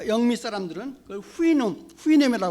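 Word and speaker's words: Houyhnhnm: 굉장히 아주 난감합니다 근데 되게 아 영미 사람들은 후인 후인 헤매다 고 바람을 합니다 후인 응 그랬어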